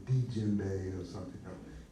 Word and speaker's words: djembe: So a lot of the language there is spoken in French, and D-J-U-M-B-I, djembe, is this pronounced. A lot of people say djembe or something. No, it's djembe, and because it's French.